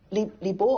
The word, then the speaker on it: Li Bai: Li Bo or Li Bai, Li Bo was the old pronunciation, had a character that was very charismatic.